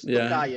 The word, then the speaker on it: Tokai: As your father say, it's written Friulano, but it's pronounced Tokai. Is that correct? Yeah, correct. You write Friulano, but you pronounce it Tokai because this is the name you call it.